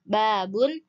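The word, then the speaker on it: بابٌ: kemudian ada bahasa Arab Arabnya babun cara bacanya babun bahasa Indonesianya pintu Kemudian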